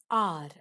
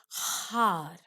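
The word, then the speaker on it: hour: Now, as you can see here, this word is R, okay? We pronounce it as R. We don't say har. The beginning alphabet or letter H is silent, okay? And while pronouncing it, we say R.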